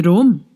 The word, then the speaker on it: Rome: To Rome. It rhymes with dome.